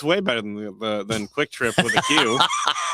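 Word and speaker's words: QuikTrip: It's Quick Trip. Yeah, it's definitely pronounced Quick Trip.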